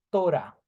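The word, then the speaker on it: תורה: a y una H por tanto esto se lee como torá Este es el hebreo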